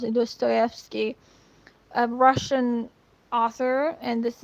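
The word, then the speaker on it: Dostoevsky: That's how you pronounce it. Do Stoski, a Russian author.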